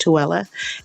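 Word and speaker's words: Tooele: So he didn't go to he didn't go to toi Tela is pronounced Tella and um yeah he was stationed in Touella um but um that was when he was 20 something years old.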